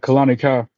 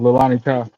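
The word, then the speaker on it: Leilani Kai: Or was it Kalani Kai? Lilani Kai. I said it wrong. Lilani Kai.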